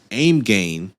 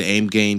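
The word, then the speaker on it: AIMGAIN: looks just looks amazing aim gain and I believe that's how you say their name I've always said aim gain cuz it's spelled a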